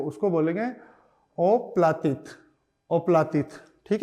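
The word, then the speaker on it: оплатить: बोलेंगे टू पे भुगतान करने को उसको बोलेंगे ओप्लित ओप्लित ठीक है तो यह हो गया ओ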